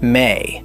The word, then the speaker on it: me: Beneath the law as a political institution was a cosmological assumption that the Sumerians called me, pronounced may.